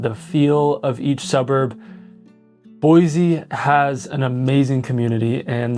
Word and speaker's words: Boise: Boise has an amazing community and there's a pride with kind of living here and growing up here.